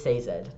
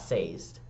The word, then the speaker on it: Sazed: I did recently learn that Mistborn, it is Sazed, not Sazed, which is my bad.